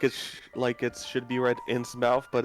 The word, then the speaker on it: Innsmouth: Something I always found weird about Innsmouth is that it's spelled like it should be read Innsmouth, but it's read Innsmouth.